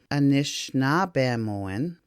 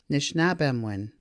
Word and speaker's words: Anishinaabemowin: versions below anishinaabemowin where the I noted in yellow is dropped anishinaabemowin and the second version the O and the I are both not pronounced anishinaabemowin anishinaabemowin and in the third version none of those three vowels are pronounced nish NAB em one